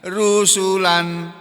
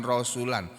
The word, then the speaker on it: rusulan: sesudah Nabi Nuh maksudnya rusulan para rasul ini bacanya rusulan bukan rasulan rusulan ini bentuk Isim jamak